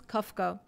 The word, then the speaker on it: Kafka: of the bird, but it's written with V, and because the pronunciation in German it's F, it's Franz Kafka.